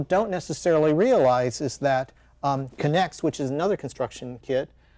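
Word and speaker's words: K'NEX: So say the name again and spell it. So that Connects.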